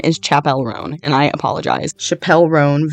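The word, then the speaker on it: Chappell Roan: this is a warning I'm about to pronounce Chapelle ran or sorry I did it again Chapel rone is how you say her name her name is Chapel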